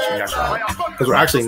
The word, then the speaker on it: Yasharahla: Yashar Allah is how you say Israel or Israelite in the correct language. Yashar Allah.